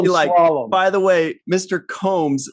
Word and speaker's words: Combs: Jeffrey Combs and and he said I think it's pronounced Coombs and I I'd like you to clarify that for me is it originally pronounced well there's so much yeah well Avery is uh incorrect on that but not really there are there is another version of my name with two o's in it and Brits can't help